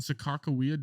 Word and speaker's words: Sacagawea: and Sakakawea different people? No. I think I think this How you say it? Sakakawea is like the Sacagawea? Americanized or like whatever you want to call it. Sacagawea.